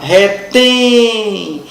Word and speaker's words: retém: separar por sílaba agora retem retem é uma oxítona por quê Porque a sílaba tônica é a última retém terminada em e m oxítona terminada em é m eu pergunto a você